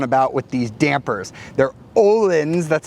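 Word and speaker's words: Öhlins: i was on about with these dampers they're olens that's how you pronounce that and it says pole star engineered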